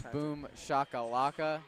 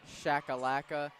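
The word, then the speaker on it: boomshakalaka: mispronounce boom shacka lacka its boom Shakalaka not shacka lacka no one would ever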